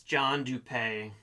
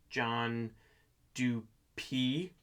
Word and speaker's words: Dupee: So that's John Dupee. And I know I've been pronouncing it wrong according to Chris Hanson's podcast. Apparently it's pronounced John Dupee.